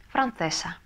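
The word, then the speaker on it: francesa: Францесса. Францесса. Ударение не нужно, потому что заканчивается на «а», падает на ударение и так на предпоследний слог.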